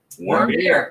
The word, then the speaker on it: Warmbier: Warmbier. There's yeah. Yeah. Got it. It's German for warm beer.